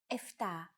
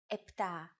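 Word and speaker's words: επτά: in casual conversation Greeks also use efta instead of eptah octo instead of octo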